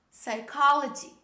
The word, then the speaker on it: psychology: we write them but we don't pronounce this letter when we say these words the first example the name of a subject psychology psychology this is not